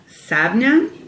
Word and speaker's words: Samhain: And the reason why it's called Samhain is actually in Irish Gaelic, it's pronounced Sabnia, which is Gaelic for All Hallows Eve, which is the 1st of November.